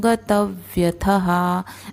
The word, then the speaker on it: गतव्यथः: है, तो शुचिर्दक्ष उदासीनो गतव्यथः। अब यहाँ पे थ में विसर्ग है, लास्ट में है, इसलिए थहा बोलेंगे, थाहा नहीं थहा।